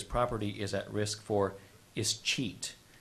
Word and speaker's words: escheat: If the childless bachelor does not have a will, his property is at risk for escheat. Here often also said escheat.